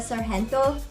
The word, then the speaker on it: Sargento: So 1 packet of the Sargento. Okay, here in the States, you probably pronounce it as Sargento, but we call it Sargento. You pronounce it Sargento in the Philippines.